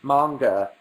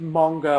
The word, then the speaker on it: manga: 15 minutes or something it's pronounced manga it's not pronounced manga or manga where you are in the UK it's like bath or bath stop telling me I